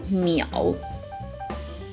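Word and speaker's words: 淼: When you have three waters written like that, it is pronounced as miao, and it is used to describe the look of an open water, a wide lake, the kind of state that water would be in, miao.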